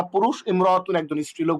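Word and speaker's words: امرأة: সেটা হল ইমরাত শব্দের আগে অন্য শব্দ যদি আসে তাইলে আলিফটি শুধু লেখা আসে উচ্চারণে আসে না। যেমন ইয়ামতুন সে একজন মহিলা। আগের যেই হরফটার সাথে মিমটা আটকে যায়। আলিফটা পড়ে যায়। কিন্তু আলাদা যদি ব্যবহার হয় তাহলে ইমরতুন এটা আলাদা করে উচ্চারিত হবে হামজাটা।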